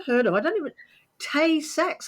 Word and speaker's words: Tay-Sachs: I don't even, Tay-Sachs, I might even be not pronouncing it correctly. Help me. No, you're spot on. It's called Tay-Sachs disease.